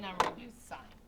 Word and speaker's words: sine: So I'll introduce the other two later, but right now we're going to do sign. It's not pronounced sin. It's pronounced sign.